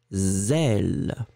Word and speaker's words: zèle: Donc le A, sel, très très fort. Le B, z, zèle.